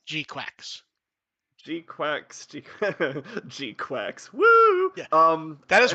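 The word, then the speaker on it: GQuuuuuuX: It is pronounced Gquax.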